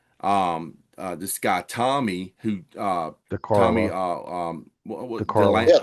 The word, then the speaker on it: DeCarlo: After Brad Delp died, Boston went out and did a tour, and they hired a new singer, this guy Tommy, who Tommy, DeCarlo.